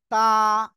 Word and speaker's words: ت: এই অক্ষরটা হলো তা। সিম্পল উচ্চারণ তা। জিপার আগা সামনের উপরে 2 দাঁতের গোড়ার সাথে লাগিয়ে উচ্চারণ হবে তা।